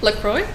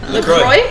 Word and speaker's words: LaCroix: LaCroix. LaCroix.